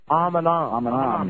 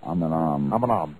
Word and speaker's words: Eminem: That is pronounced Aminam. You are correct, sir. Aminam.